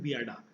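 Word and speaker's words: BIADA: ये इसे हम कहते हैं बियाडा। ठीक है, बियाडा क्या होता है? तो बिहार industrial area development authority. ठीक है, इसे शॉर्ट में आप बियाडा कह सकते हैं, प्रोनाउंस करने के लिए, याद रखने के लिए।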